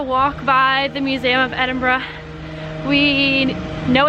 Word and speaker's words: Edinburgh: were saying Edinburgh wrong it's actually Edinburgh like suck bruh and Umbra that's how you say it the right way fun bro so we are gonna walk by the Museum of Edinburgh we know it's not